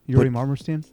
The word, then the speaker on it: Yuri Marmerstein: name with an underscore yuri marmerstein you you say it well yuri i'll have to spell